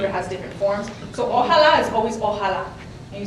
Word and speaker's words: Ojalá: Okay, I'm not gonna say the word because I'm gonna say it completely wrong, but I'm just gonna spell it. So it's O-J-A-L-A. Ojalá.